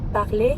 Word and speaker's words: parler: You can also hear the same sound in parler that you hear in Paris or parfait. Par. Parler. Vous parlez anglais?